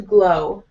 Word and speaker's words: glow: Your face and skin will start to glow. Your face and skin will start to glow. Yeah, more. Give me more L on glow so that I know it's different from grow.